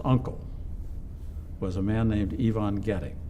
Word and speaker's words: Ivan: Turns out that Marsha's uncle was a man named Ivon Getic. First name spelled the same as mine, but pronounced in the proper way.